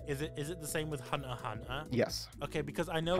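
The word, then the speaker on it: Hunter × Hunter: It is actually pronounced High School DD. Is it the same with Hunter Hunter?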